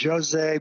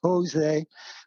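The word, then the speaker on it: José: brazil so it's pronounced jose but it if you speak spanish instead of portuguese it's jose but jose dube uh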